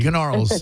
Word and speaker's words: Gnarls: Gnarls. the G is silent, but yes, well done, young lady.